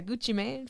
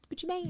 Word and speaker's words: Gucci Mane: It's Maine. That's what Gucci Mane. You said man. Gucci man.